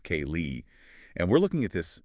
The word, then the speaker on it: ceilidh: We are talking about the massive trend of fiddling and celid dancing, which by the way for you listening is spelled C E I L I D H but it's pronounced K Lee.